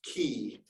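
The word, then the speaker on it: כִּי: in Hebrew there there's a little particle uh pronounced key that can be and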